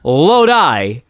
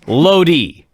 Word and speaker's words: Lodi: Well, Lodi is a city. It's not Lodi, it's Lodi. Right. And then, for half the match, he's fixated on how you must pronounce it Lodi and not Lodi.